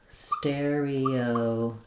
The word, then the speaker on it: stereotype: So stereotype is actually just the same way we pronounce the word stereo and the word type. So we have a stress on stereo and a secondary stress on type.